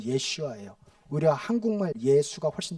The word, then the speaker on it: 예슈아: 내가 예슈아 어 예 예슈아 예슈아 예수님의 히브리식 그러니까 그 당시 아람어 발음입니다 우리는 예수 하고 영어로는 지저인 지저스가 제일 엉망이에요 저 어떻게 보면 원래 원어 발음은 예슈아 우리 한국말 예수가 훨씬